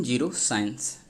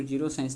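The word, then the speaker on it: geroscience: आगे देखते हैं जीरो साइंस। इसको जीरो साइंस नहीं पढ़ी, जेरो साइंस पढ़ सकते हैं, जेरोंटोलॉजी से। ठीक है, तो वहाँ से समझेंगे। जीरो भी उच्चारण होता है, इसलिए चलिए आगे देखते हैं।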